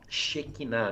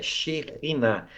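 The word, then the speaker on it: שכינה: xerriná xerriná eh eh a gente fala, né, shequiná, né, que é a glória de Deus, mas a pronúncia certa é xerrina".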